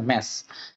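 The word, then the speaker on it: mass: per unit মাস মানে ম্যাস যেটা আর কেন মাস না ম্যাস হলো উচ্চারণটা সঠিক উচ্চারণ ম্যাস যাই হোক তো এটা তো এটা আমাকে আসলে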